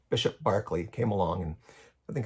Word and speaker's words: Berkeley: of Barkley came along spelled Berkeley but it's pronounced Barkley Bishop Barkley came along and I